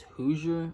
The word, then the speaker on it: Hoosier: with some pretty decent freaking I think it's Hoosier is how you say it - Oh 550